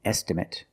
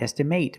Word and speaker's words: estimate: going to cost an estimate an estimate remember the pronunciation not estimate but an estimate I asked him